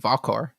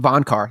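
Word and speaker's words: Vohnkar: Yeah, Migosh is a great name, and Valkar. That one's was he the warrior guy? Yeah, the only thing with Valkar, or Vonkar, I think it is. Am I saying it wrong? Von Car.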